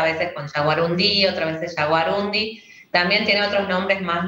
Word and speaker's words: yaguarundí: Está bien, porque por ahí aparece, hay una tendencia como a pronunciar como una palabra aguda, ¿no? Yaguarundí, pero está bien dicho entonces.